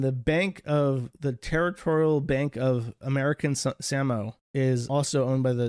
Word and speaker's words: Samoa: see if these banks, Samoa is how you pronounce Samoa. That's how they pronounce it. It's pronounced Samoa.